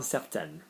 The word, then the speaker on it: certaine: Yeah, so when you add an E to an N, it makes the previous vowel go higher. Like certain, certaine.